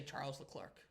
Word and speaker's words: Charles Leclerc: um he will say Charles the Clark okay he'll take the like like the English pronunciation okay but it's technically